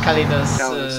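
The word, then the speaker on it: Callidus: Calidus, that's how you pronounce it.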